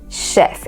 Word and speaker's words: chef: that word is not pronounced Chef it is Chef it is correctly pronounced Chef okay so you have a word